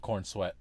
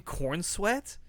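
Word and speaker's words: Corenswet: It is David Kornsweet. Is that how you say his name? Cornsweet or C O R E N S W E T. Cornsweet.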